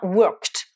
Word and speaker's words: worked: Alors, exemple, avec la prononciation te, on a worked.